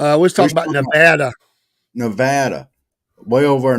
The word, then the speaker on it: Nevada: But Nevada is the correct way to pronounce it.